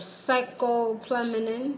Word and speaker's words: scopolamine: Scopolamine. Scopolamine. It's spelled Scopolamine.